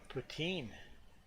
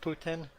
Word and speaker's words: poutine: Not poot. You know, a boot, poutine. But yeah, that's Poutine. Poutine. Yeah, basically it's pronounced, I think, in two different ways. I think you would pronounce it like that. I think the French people pronounce it Poutine. I think us Anglo-Canadians say Poutine.